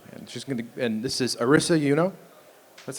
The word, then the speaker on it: Arisa Euno: And this is Arisa Euno.